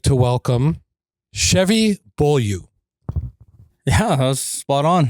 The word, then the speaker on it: Chevy Beaulieu: So everybody, I'd like to welcome Chevy Beaulieu.